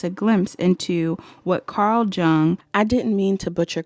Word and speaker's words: Jung: glimpse into what Carl Jung I didn't mean to butcher Carl's Name by the way I know Carl's name is spelled like Jung but it's pronounced young um but yeah that's